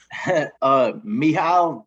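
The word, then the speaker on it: Mihály: Mihaly Csikszentmihalyi.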